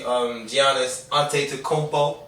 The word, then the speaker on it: Giannis Antetokounmpo: I like that for the Bucks because they already got the Drew Holiday, Giannis Antetokounmpo.